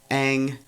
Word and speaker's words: Aang: Right, but before we do that, we realize Aang, or as M. Night Shyamalan pronounces it, Ong, has what?